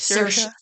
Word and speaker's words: Saoirse: She's like Saoirse. It's like inertia.